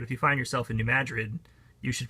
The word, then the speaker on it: New Madrid: that way but if you find yourself in New Madrid you should pronounce it that way and things will go